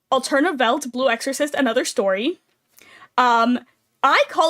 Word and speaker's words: Welt: Also, Welt is spelled with 2 V's, but the 2 V's make a W, and the German pronunciation of W is like a V sound.